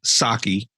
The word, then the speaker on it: Psaki: The new press secretary, Psaki, P is silent.